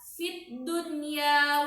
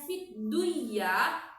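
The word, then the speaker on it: في الدنيا: Jika ada orang yang membacanya fidduyah, maka itu salah. Harus dibaca dengan jelas. Fid dunya. Jadi, nun matinya dibaca jelas dan huruf ya-nya pun terbaca dengan jelas.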